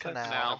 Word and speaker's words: canal: Canal? Is that how you pronounce it? Canal. Right. Canal, that's it.